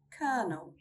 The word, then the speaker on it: colonel: Again, I couldn't find a theory, and I only found one example, and that is Colonel.